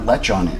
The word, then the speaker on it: lechon: For our viewers, would you explain what lechon is?